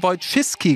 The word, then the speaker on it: Wojcicki: youtube hat es in das video von susan wojcicki geschafft und ja sie wird tatsächlich so ausgesprochen es handelt sich hierbei um julien bei